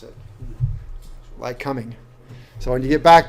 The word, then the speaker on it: Lycoming: they do not say that back in like like coming is how they pronounce it like coming so when you get back there they're like